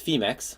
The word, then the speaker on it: Phemex: So I believe it's Phemex, like Phoenix.